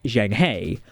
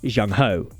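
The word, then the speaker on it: Zheng He: as a quick note Captain Reicher pronounced the Starship name as Zhang hey While others pronounced the name as Zhang ho the taloshiar fleet was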